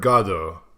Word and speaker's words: Godot: First of all, again, I feel like we've had the Godot, because again, I've heard Godot is the correct pronunciation.